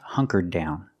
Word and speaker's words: hunkered: Hunker down in the present, in the past, hunkered down. There's a little difference. When you make it in the past, you do a stop D, hunkered down.